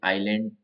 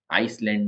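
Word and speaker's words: island: लिए L sound है ए के लिए आइलैंड आइलैंड में एस साइलेंट है आइसलैंड नहीं है नाइफ तो नाइफ में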